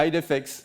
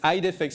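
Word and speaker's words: IDEFICS: edix ID fix like how do you uh how do you pronounce it Victor depends who you talk to okay okay or ID defix all right it's ID fix so check it out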